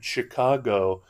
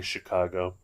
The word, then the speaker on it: Chicago: LA, an airplane into Chicago. I don't pronounce it like that. I say Chicago.